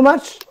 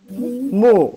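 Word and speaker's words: 木: Okay, is that too much or okay?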